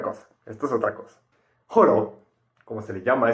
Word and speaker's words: Holo: y era gracias a Horo, escrito Holo, pero por reglas fonéticas de japonés pronunciado Horo, que él conseguía el producto.